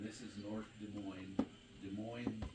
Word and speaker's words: Des Moines: Des Moines, like Des Moines, Iowa, but it's spelled the French way.